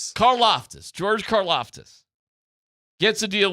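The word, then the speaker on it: Karlaftis: Caroftus.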